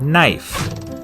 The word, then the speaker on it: knife: is in the word knife in middle english it was pronounced kneef but after the vowel shift the k became silent and the e turned